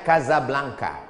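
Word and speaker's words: Casablanca: Hasan dua di Kota Kasablanka Hai ibukota Maroko tempat saya kuliah nama negaranya Maroko ibukotanya tulisannya Caca blancha Hai cara bacanya Kadzab langka Gaza artinya rumah Blanca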